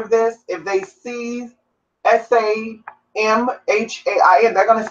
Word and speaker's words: Samhain: Anyway, so Samhain is spelled Samhain, but it's pronounced Samhain. Samhain. Samhain. There's 3 different ways to pronounce it, but it is Irish pronunciation.